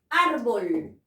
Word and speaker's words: árbol: la palabra árbol árbol árbol debo de tildar la o no debo de tirarla es grave árbol si última penúltima la mayor fuerza de voz está en la penúltima sílaba entonces terminen en él